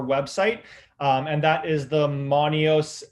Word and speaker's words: Monios: And that is the Monios L grow light. So Monios is spelt MONIOS-L.